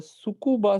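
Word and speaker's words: Tsukuba: name called as the sucuba scoring system the t is silent it is called as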